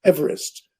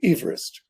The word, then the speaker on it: Everest: given to the tallest mountain in the world mispronounced everest so your listeners may be intrigued when they